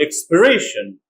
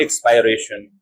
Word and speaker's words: expiration: to realize and even in the noun form they pronounce like I for example verb invite noun invitation not invitation like many people say verb expire noun expiration not expiration verb recite noun recitation